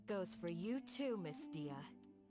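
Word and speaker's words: Dehya: And that goes for you too, Miss Dia. Дия. Разница в произношении и тому, что написано огромное. Дехя и Дия.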